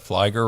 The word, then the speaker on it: Fleiger: always have to say rhymes with Lisa flyger rhymes with tiger that's how you know